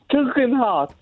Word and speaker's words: Tugendhat: Say Tug. Tug. Heart. Yeah, but how could Lindsay say that? Tugendhat.